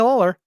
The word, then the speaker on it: Lawler: Lawler Kenny Lawler yeah I gonna get that name wrong but yes Kenny no you got it right yeah Kenny Lawler you know uh one of the greats of